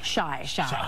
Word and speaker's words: Shai: Is it Shy or Shay? Shy. Okay. Oh, that's okay. That's okay. That's right. Shy.